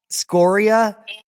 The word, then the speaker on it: scoria: Lava it's actually pronounced scoria geologically speaking okay yeah so the the the inflection is on the o like scoring a win score yeah okay gotcha that's